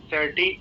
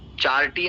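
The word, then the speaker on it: charity: like cultural day आर चैरिटी events चार events चार्टी नहीं चैरिटी चैरिटी events so like cultural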